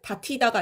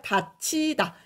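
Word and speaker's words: 닫히다: 식으로 내려가는 겁니다 그래서 최종적으로는 바티다가 아니라 다치다 이렇게 발음이 되는 거예요 여기 위에 설명이 나와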